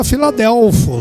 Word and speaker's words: Filadélfia: esse nome Filadélfia no grego significa a palavra se pronuncia A Filadélfia S afeto até ovos irmão seu verdadeiro significado